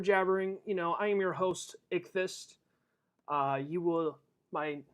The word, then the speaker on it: Ichthys: I am your host, Ichthys. My name is Ichthys, and y'all who watching me for the first time, you'll be thinking like, oh, so that's how you pronounce his name. It's not Itchy5.